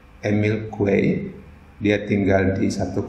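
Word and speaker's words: Émile Coué: pemilik kue satu tengah dia orang Perancis cara membacanya God ini Emil Hai itu cara bacanya dalam bahasa Perancis Emil kue ini dia tinggal di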